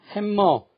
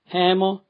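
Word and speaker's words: hammer: 영어에서 겹자음은 하나만 소리낸다는 규칙을 잘 지키지 않아서 콤마, 햄머, 썸머, 런닝 소리를 자주 듣습니다. 카머, 해머, 서머, 러닝 하면은 원어민과 꼭 같아지는데 잘 안 고쳐집니다.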